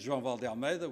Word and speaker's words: João Vale de Almeida: My name is João Vale de Almeida which is a slightly different pronunciation.